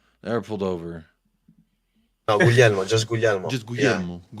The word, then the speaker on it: Guglielmo: Can you tell me a way to pronounce it? Just Guglielmo. say it Perfect. again. Guglielmo.